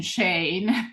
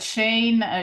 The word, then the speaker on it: Shein: Instead, some fast fashion brands, I always mention Shane. Poor Shane, it's getting all the blame. But Shane is, I'm not sure if you say Shane in the US, it's spelled Oh, Shein.